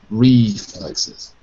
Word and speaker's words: reflexes: reflexes clearances glanis yeah when you've got an es and it's extra if it's not normally part of the word we have to say it we have to say it as a separate syllable so reflex ends with X but plural x s is an extra syllable reflexes and the rest uh